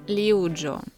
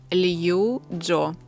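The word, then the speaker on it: Liu Jo: ти вимовляєш його невірно не ліуджо не луїджо а він лью Джо отакою А я скільки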